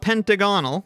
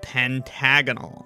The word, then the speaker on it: pentagonal: call the numbers pentagonal so it's not pentagonal it is instead pentagonal everybody seems to agree